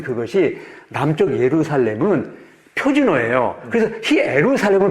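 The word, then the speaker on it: Ἰερουσαλήμ: 그래서 히에루살렘을 발음하는데 북쪽은 방언, 사투리를 쓰는 거예요.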